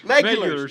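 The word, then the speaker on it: Meguiar's: he kind of asked me, how do you pronounce Yeah. that? And he said, like, what do you call it? Maculars. Megulars. Megulars.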